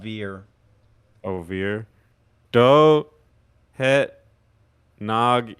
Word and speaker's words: weer: The W's go pronounced like V's. It's Germanic. Oh, V. So instead of V, weir, what? it's veer.